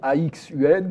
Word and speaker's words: Axun: Alors ça s'écrit A-X-U-N, mais on prononce Axun pour le solaire.